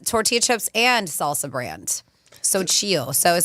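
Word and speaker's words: Xochitl: It's but it's spelled X O C H I T L. So chill.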